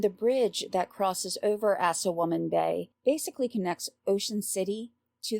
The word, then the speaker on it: Assawoman Bay: So not the Chesapeake Bay, but in this case, we're looking at the Assawoman Bay. And yes, that's spelled like it sounds.